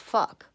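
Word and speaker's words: phoque: Fuck is actually a seal in French, spelled P-H, not F, but pronounced fuck.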